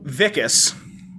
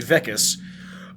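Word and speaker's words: Wikus: right i like how vickis spelled with a w pronounced like a v vickis um i like how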